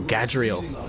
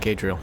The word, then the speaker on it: Gadriel: We deserve to know Oh, Gadriel. Not Cadriel.